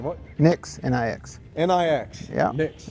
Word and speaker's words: Nix: Nix, N-I-X. N-I-X. Yeah. Nix. It's simple. Okay. Oh, I can spell it.